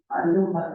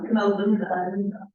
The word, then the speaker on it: Maluma: Maluma. Maluma.